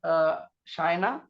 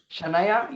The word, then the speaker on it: Shanaya: Is that okay, Shaina? Your name is Shanaya. Your name is Shanaya. Yes. Oh, right, Shanaya.